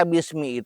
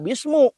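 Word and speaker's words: بسم: Itu dibaca bismi itu menurut ulama karena kata ulama pangnya dibaca bismi karena di sana ada ba. Ba-nya itu apa? Ba harap jar. Harap jar itu harap parabot ngajerkeun. Jadi dibacanya mi, enggak bismu, enggak bisma.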